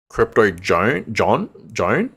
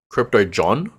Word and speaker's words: Crypto John: It's like another crypto YouTuber, and he was talking about Crypto Joan. Am I pronouncing that right? Crypto John. Yes, that's the one.